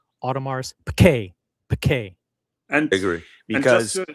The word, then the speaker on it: Audemars Piguet: Audemars Piguet. The emphasis is on that second syllable. Audemars Piguet.